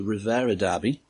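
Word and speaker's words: Revierderby: It's the Ruhr region derby, the Rivera derby. I'm assured that's how it's pronounced.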